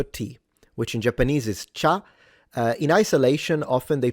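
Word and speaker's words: 茶: The Chinese in Mandarin pronounce it cha, second tone.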